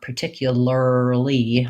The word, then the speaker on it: particularly: i don't really want particularly i don't really want a strong sound there i need to be fast and light so to get that what i'm going to suggest is just practicing those short syllables by themselves light and fast so i would start with lee lee and then maybe early early then finally lurly lurly once i can do literally